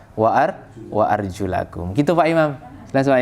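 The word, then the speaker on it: وأرجلكم: Tapi mereka, lah saya bacanya wa urjulikum, nanti jawabannya mereka begitu. Nah, begitu. Padahal kan harusnya kan sesuai dengan riwayat. Riwayat bacanya apa? Wa arjulakum.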